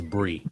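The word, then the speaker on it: Brii: Other than that's the stupidest wrestler, and then stupidest promotion name is Bright Combination Wrestling. I don't care who hears me say about anything about it. First off, you're saying it wrong. It's Brie.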